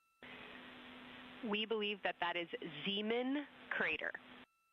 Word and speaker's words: Zeeman: Integrity science, we believe that's Zeeman crater. Oh, I floated away from the speaker. Say it again, please. We believe that that is Zeeman crater. Zeeman, okay.